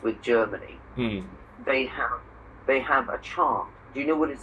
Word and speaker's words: chant: In French, they say chant, and we say chant. They don't pronounce the T.